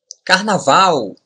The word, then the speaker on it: Carnaval: But when the consonant L is the end of a word or syllable, we pronounce it like the letter W in English. Look. Carnaval. Carnaval. This ending, au, is very similar to the ending of the words cow and how.